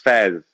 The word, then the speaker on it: Faiz: It's Faiz. We have a famous poet called Faiz Ahmad Faiz, so that makes it easier.